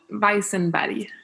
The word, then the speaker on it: Weissenberg: Sweden but von Weisenberger how do you pronounce it sorry on bison body yeah that's what I said you would never